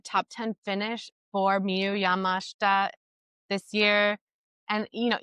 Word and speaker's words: Yamashita: I've been calling her Mu Yamashida. That's what my little American brain thinks it should be pronounced like, but no, I listened to how she pronounced it, which is Yamashta.